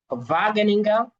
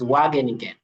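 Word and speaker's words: Wageningen: this is at the university of vaginga uh of course that's how the Germans will pronounce the word but you and I will say it is waging okay and you can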